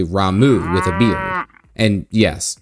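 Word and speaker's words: Ramuh: to be corrected because it's not Rama which it it that's how it's spelled and it and it looks exactly that his name is actually ramu with a beard and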